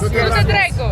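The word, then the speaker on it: Du-te dracu: Du-te drecu. Du-te Du-te drecu. Du-te drecu. Du-te drecu, așa. Du-te drecu. Go to hell. Go to hell. Am I saying it right? Yes. Du-te drecu.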